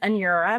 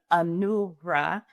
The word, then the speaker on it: Anura: So my name is Anura. You can pronounce it so many different ways, but the ANU in many different cultures, so Asian cultures and Spanish-speaking cultures, typically pronounce my name Anura.